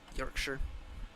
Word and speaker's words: Yorkshire: And yes, it's pronounced Yorkshire, not Yorkshire. It is pronounced Yorkshire.